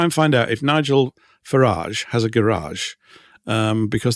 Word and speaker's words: Farage: Just going back to Nigel Farage as well, because I meant to say this. I think it's pronounced Farage, but if it's pronounced Farage, he would have a garage, wouldn't he?